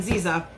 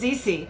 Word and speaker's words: ZC: This is from ZC Cosmetics, and I said it wrong in my other video. I'm just so used to saying Ziza, but it's not. It's ZC.